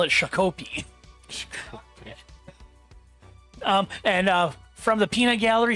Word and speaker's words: Shakopee: That is Shakopee. So you pretty much had it. Most non-Minnesotans would call it Shakopee.